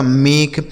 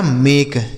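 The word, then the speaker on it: make: यह लिखा गया आपका मेक ठीक है ना तो यह हो गया मेक किसी भी शब्द के लास्ट में ही रहेगा तो उसका उच्चारण नहीं होगा बी ए एस ई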